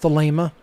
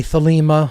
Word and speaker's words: Thelema: and then thilema is with a long a sound in the uh second syllable not the lima so